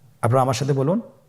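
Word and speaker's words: ب: বা হরফে টান হবে। এক আলিফ টান। আপনারা আমার সাথে বলুন বা আবার বলুন বা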